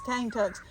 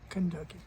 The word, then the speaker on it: Kentucky: These cane tucks. What they would do is they would take, sorry. For those of you that like correct pronunciation, it was Kentucky.